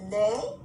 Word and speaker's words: les: almost like you're saying note that lei should look like this pronunciation in english like i'm going to lay down day d-a-y what day of the week is it we don't